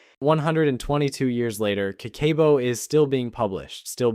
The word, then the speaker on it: Kakeibo: She published the first Kakeibo, just pronounced Kakeibo, which translates literally to household account book, through a magazine she'd founded called Katei no Tomo, or Friend of the Home.